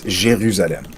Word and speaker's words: Jérusalem: As for Jerusalem, so in French, it's pronounced extremely similar. It's just the beginning that's different. So it's Jérusalem.